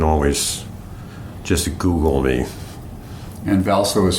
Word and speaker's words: Hvalsoe: name you can always just Google me and valo is spelled h v a l s o e